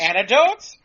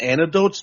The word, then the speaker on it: anecdote: I mean, when people have like interesting stories and anecdotes, don't they? Isn't that part of conversation? It's pronounced anecdote, Ivan. It's anecdote.